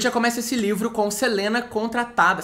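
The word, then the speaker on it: Celaena: começa esse livro com Selena contratada seleen né Eu adoro falar Selena porque é mais fácil mas dizer seleen para quem tava com saudade da minha pronúncia seleen foi contratada né como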